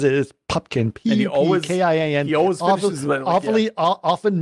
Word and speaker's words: Pupkin: Pupkin. He always finishes often mispronounced and misspelled.